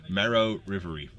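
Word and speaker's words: Marrow-Reverie: I was trying to pronounce earlier when calling out the list. Marrow Reverie.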